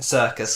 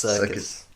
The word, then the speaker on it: Serkis: Anyway, and then there's the final one is Andy Serkis. Circus. Circus. It's pronounced Circus.